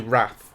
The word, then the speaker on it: Rath: His surname is actually Rath. R-A-T-H. Well, that's pronounced right.